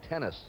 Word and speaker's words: Tenace: He says the correct pronunciation is Tenace. Cury Gene Tenace is his name, but he has Anglicized it now to Gene Tenace.